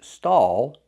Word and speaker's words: stall: We see A-L-L making that sound aw, aw, back here. Tighten the muscles at the top of your throat. Aw, aw, aw. Stall. Stall like tall.